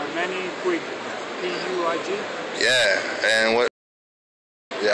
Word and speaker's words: Puig: Manny Puig.